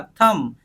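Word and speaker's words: thumb: भी सिर्फ हम क्या बोलेंगे तुम क्या बना थंब क्या बना थंब देखो यहां पे लिखा है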